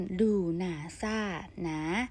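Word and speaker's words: Lughnasadh: เทศกาล ถัด ไป นะ คะ ชื่อ ว่า ทศกัณฐ์ ดู หนา ซ่า หนา สะกด เป็น l u g h na SA a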